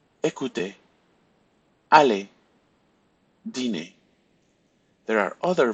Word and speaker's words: écouter: So we will not pronounce the R if you have a verb ending in ER. So repeat after me. Parler, regarder, inviter, jouer, danser, écouter, aller, dîner.